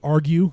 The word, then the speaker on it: Argyou: have thought about, but it was the argue, because it's spelled strange, ARGYOU. So argue not the hands you are dealt in cards or life.